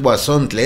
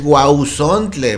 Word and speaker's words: huauzontle: Me corrigen aquí que no es guasontle Es gule verdad pero pues por la dificultad de pronunciarlo decimos guasontle y así se escucha así se entiende verdad bueno eh se